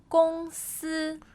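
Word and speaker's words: 公司: 公司公司. Is that first tone, first tone?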